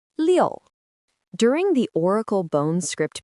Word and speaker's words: 六: It is pronounced liu.